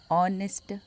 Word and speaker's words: honest: For example, an hour, an honest man. We don't pronounce H in these both words.